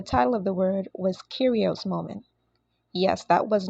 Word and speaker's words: Kyrios: Spirits okay so first of all the correct pronunciation of the word is actually curios so for a lot of you you would have been introduced to this word as chyros and that's because it's a lot of persons